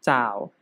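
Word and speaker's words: 找: ที่ 2 นะ ครับ คำ นี้ อ่าน ว่า จ่าว จ่าว คำ นี้ เนี่ย นะ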